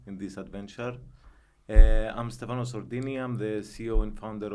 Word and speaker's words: Sordini: Have I pronounced the surname correctly? Sordini.